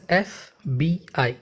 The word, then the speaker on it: FBI: When we are pronouncing it, we are pronouncing it as FBI. So F starting with a sound, right? Which is a vowel sound.